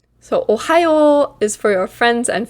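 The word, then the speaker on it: おはよう: Ohayo. One more time. Ohayo. So these two O's at the end are a way of showing that the sound is extra long here, the O sound.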